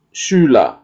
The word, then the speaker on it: Schüler: Seperti sekarang Schüler, ya. Jadi ada U titik dua itu kita sebut adalah U umlaut, ya. Jadi ada perubahan bentuk penyebutan, ya, der Schüler, ya.